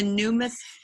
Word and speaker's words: numismatist: I'm a numismatist.